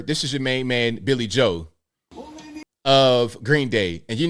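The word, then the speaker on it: Billie Joe: Since I've been a teenager, I call him Billy Joel with an L, but it's just Billy Joe.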